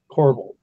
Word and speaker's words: corbel: Hey, Charles, that's spelled C-O-R-B-E-L, corbel.